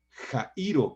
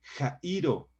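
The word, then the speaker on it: χαίρω: La palabra griega jairo, con X, acento en la I, jairo, describe un enorme gozo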